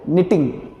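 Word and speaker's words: knitting: निटिंग KNITING, के इसमें silent है, तो क्या पढ़ेंगे इसको, निटिंग।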